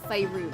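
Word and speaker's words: Faerûn: Sorry, Faerun. Faerun is the correct way. Faerun. Yeah, that's how they pronounce it in the D&D movie, so I'm just gonna...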